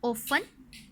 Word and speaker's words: often: The letter T is silent when we say the following words. इनमें अब letter T silent होगा. Often, castle, listen, whistle.